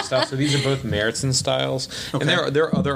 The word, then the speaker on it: Märzen: Märzen, yeah. Is that how you pronounce it? It's not Marzen? No, it's Märzen.